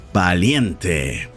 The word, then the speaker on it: valiente: brave in spanish is valiente and yes that's right it's a v but most spanish people pronounce it as a b a b that means pray for both women and males baliente i'm brave yo soy